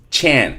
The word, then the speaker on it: Chan: So, it's going to be something like, "Thank you, Miss Chan." Pay attention to this. It's not sh, it's chan.